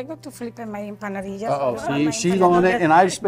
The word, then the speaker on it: empanadillas: Empanadillas.